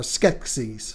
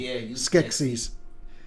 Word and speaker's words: Skeksis: the secret of the six six or Skeksis Skeksis see there's my first mispronunciation Skeksis I'm sketchy and filming